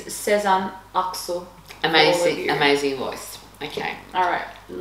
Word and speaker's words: Sezen Aksu: And for those of you who are Turkish and are mortified by our pronunciation, it's Sezen Aksu.